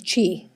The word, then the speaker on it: Chi: I just want to make sure we know that our incoming city manager's last name is Chi. That's how you pronounce it.